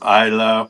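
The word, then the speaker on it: Islay: Uh, you want you want one of the smoky pey ones from the island of Isa, which isn't spelled like Isa. It's spelled I S L A Y.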